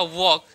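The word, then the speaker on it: walk: अब व यहां पे देखिए डब्ल्यू ए एल के वॉल्क। बहुत लोग ऐसे पढ़ते हैं वॉल्क पढ़ते हैं। लेकिन इसका उच्चारण वॉल्क नहीं होगा। इसका उच्चारण होगा वॉक।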